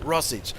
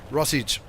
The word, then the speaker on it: Rossage: Rossage is, that's how you say it. Rossage. Like sausage. Rossage as in sausage.